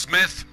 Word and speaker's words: Smythe: You know, you can debate that with the letter E on the end. It makes it Smythe. Some people might still debate. Nope, that's pronounced Smith. And don't you say anything different, darn it.